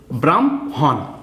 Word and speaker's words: ব্রাহ্মণ: ম হ মধ্যান্য হন ব্রাম হন এরকম উচ্চারণ হবে আগে ম এর উচ্চারণ হবে তারপরে হ এর উচ্চারণ হবে হ্যা বয়রাফেলা হম ময়ে